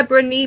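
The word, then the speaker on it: Brené: Is this book by Brnee Brown? Is that how you pronounce her name?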